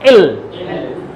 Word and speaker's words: 'll: Double एल, और इसका pronunciation होगा इल। जैसे आई के साथ लगाएंगे तो आइल।